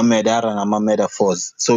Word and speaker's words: Medaphorz: on my end it's metaphors sorry carry on yeah yeah no I was about to say that um most people pronounce it with a t but I spell it with a d as in years because